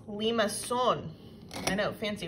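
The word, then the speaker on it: limaçon: same and that's cardioid this next graph is pronounced Leamas son I know fancy right now there are three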